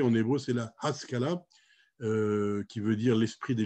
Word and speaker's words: Haskala: retranscrit en français puisque en français on ne prononce pas les h mais dans la plupart des langues on les prononce dont louis on est beau c'est la haskala qui veut dire l'esprit